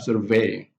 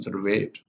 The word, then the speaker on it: survey: We also have the word survey. That's a noun. We conduct a survey. That's a noun. But the verb, we have survey. We have surveyed. So the stress is on surveyed.